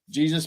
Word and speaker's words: Jesus: it or something yeah I I pronounce it in English Jesus Jr my last name is